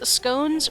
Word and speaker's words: scones: marchare informs me that in educated circles scones rhymes with bones like gones not scoot I don't know